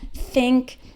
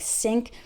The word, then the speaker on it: think: When I hear someone pronounce these and those with a D sound, like D's and does, or pronounces think like sink, that's a giveaway.